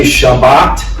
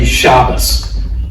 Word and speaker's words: Shabbat: Now, there are other groups that do change the sound and that's why some people say Shabbat and others say Shabas. That's where those Hebrew letters pronounce slightly differently.